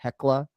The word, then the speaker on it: Thekla: It looks like Thekla, but I believe it's pronounced Tekla. But but on commentary on AEW, they say where the fuck they want. They say Tekla, but I think the official pronunciation is Tekla.